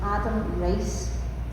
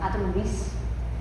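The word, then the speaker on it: Riess: Even today, right, there's an astrophysicist called Adam Rice. Uh, no, sorry, I pronounced that wrong. Adam Reese and he won a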